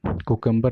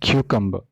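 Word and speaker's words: cucumber: नॉट, जो खीरा बोलते हैं ना, ये कुकम्बर नहीं है, ठीक है? This is क्यूकम्बर, क्यूकम्बर, क्यूकम्बर, क्यूकम्बर.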